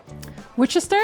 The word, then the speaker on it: Worcester: I mean, y'all do have French names, so I think you have to Wister, which is Worcester.